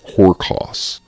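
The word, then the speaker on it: ὅρκος: The root word that comes from Greek is not spelled, but pronounced horkos. Horkos, which just means an oath.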